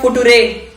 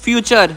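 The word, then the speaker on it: future: एफ यू टी यू आर ई ये तो है फोटो रे। चुप करो पागल किशन। इस वर्ड का सही प्रोनाउंसिएशन है फ्यूचर।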